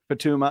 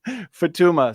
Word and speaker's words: Futuyma: from evolutionary biologist Douglas Futuyma, however you say that. Futuyma. Don't make the Jensen error. Know how to pronounce his name. Futuyma.